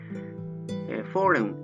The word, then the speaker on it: foreign: というものですね。Foreign は外国のということですね。